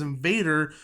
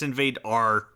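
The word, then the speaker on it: Invadr: I think you pronounced it wrong. I think it's Invadar. Is it Invadar? Yeah. Yeah, because well they don't believe in ease.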